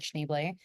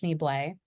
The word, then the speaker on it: Schneebly: And I said, oh, that's a good part for you because it was for Ned Schneebly. It's Yeah. actually pronounced Schneeblay.